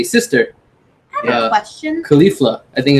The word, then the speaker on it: Caulifla: So how was it pronounced then? Caulifla. Caulifla. Wiz Khalifa? Like Wiz Khalifa? Yes. Yeah. Like the rapper?